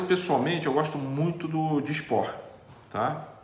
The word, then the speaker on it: Dysport: Dysport se escreve com DY Port, com T mudo no final.